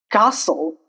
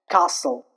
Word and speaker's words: castle: Castle. Here T is dropped. Castle. Listen. Here also the letter T is dropped. Whistle. Here also the letter T is dropped. Fasten. Here also the letter T is dropped. If we decided not to drop t then it would sound like castl that is wrong.